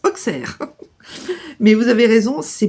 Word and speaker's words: Auxerre: C'est comme Auxerre et Auxerre. Les Bourguignons disent Auxerre, les autres disent Auxerre.